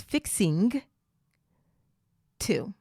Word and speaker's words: fixing to: the g so it's fixing to fixing two fix into notice that we reduce that o to fixing to say it with me